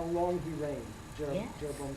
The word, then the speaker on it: Jeroboam: And he is, if you look on your chart, you'll see that he follows, they just give the Hebrew pronunciation, Yaravam, but they call him Yaravam Roman numeral 2.